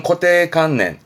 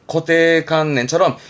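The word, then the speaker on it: 固定観念: 발음은 코테칸넨, 코테칸넨처럼 이 관념은 그렇게 좀 주로 쓰여지겠네요.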